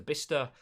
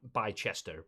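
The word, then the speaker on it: Bicester: to deliver parcels to bista that is how you pronounce that by chester but bissester uh is bister in it anyway we'll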